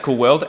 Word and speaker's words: Coulworld: run out of my camera um it is pronounced cool world and your last name is called [ __